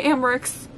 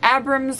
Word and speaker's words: Abrams: If you're Gracie Amrick's, I just said her name wrong, or Abrams, or however you say your last name.